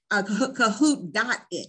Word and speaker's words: Kahoot: which is Kahoot It, Kahoot.it, excuse me. And Kahoot is spelled like it sounds, K-A-H-O-O-T, so Kahoot.it.